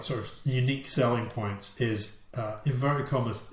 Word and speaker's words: Uni-Q: One of their top specification, like sort of unique selling points, is inverted commas, sit anywhere, close, unique Q sound. So I think it's supposed to be unique sound, but it's spelled UNI-Q sound. Unique.